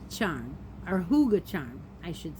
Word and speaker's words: hygge: this game so here we go red heart higgy charm or hygge charm i should say it's called it's pronounced hygge anyhow it is a sparkle it is not